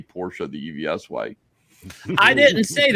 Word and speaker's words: Porsche: It's like calling somebody an asshole, but it is Porsche. It's just how you pronounce it.